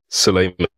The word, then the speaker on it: Sulaiman: So I should have asked at the very beginning, how do you pronounce your name? I don't want to say it wrong. Yeah. Suleiman.